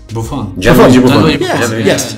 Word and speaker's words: Buffon: Buffon.